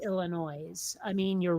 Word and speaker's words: Illinois: the end of it there is no e on the end of Illinois to make it noise well but there but there is an S and there is an S but it is a silent s is it from yes but it's still um I mean if if if you expect words to be a little more phonetic it makes sense to say Illinois I mean you're wrong